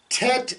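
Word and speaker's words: טית: in tar okay um and the the letter tet and the letter T in English we would pronounce that with a very a hard T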